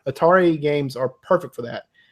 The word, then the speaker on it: Atari: a ter a ter I almost say Atari I is that wrong is Atari right I mean is it wrong what atario no but Atari is right that's the pronunciation they put out there I've always said Atari